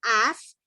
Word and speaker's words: as: el caso del verbo as que no se pronuncia as que se dice a ese es un verbo